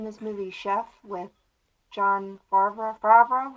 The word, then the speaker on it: Favreau: I was watching this movie Chef with John Favreau.